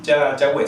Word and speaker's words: Yahweh: Yahweh, sí, la pronunciación más normal o más cercana al hebreo.